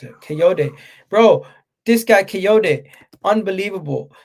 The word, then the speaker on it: Kayode: Kayode. That's how you pronounce it. Kayode.